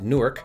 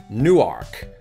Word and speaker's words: Newark: Jersey they pronounce it New York so there's still an emphasis on that first syllable but they also emphasize the word Ark that's in there so Raiders of the